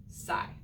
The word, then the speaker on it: sigh: a big deep breath s says and igh says what it says i it's one of the newer ways that we're learning to spell long i and it will never